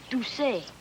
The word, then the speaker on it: Doucet: It's actually Doucet. Doucet. With one of those things between the U and the C pronounced Doucet. Doucet. Make your mouth into a circle. Doucet. Doucet. Doucet. That's it.